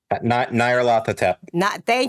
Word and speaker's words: Nyarlathotep: Yeah, I can never pronounce it. Nyarlathotep.